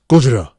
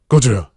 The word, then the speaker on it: Gojira: It's pronounced Gojira, like a Japanese dude saying Godzilla. Gojira. It's Gojira.